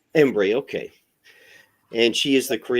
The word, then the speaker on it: Embree: Systems in Austin today we're joined by ombre is that how I pronounce it is that correct close embre embre Okay and she is the director for tulip